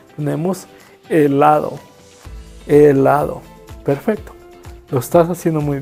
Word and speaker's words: helado: So in Spanish, every time, not just 1 time, 2 times, every time you see H in Spanish, is silent, so that we don't pronounce H. Tenemos helado.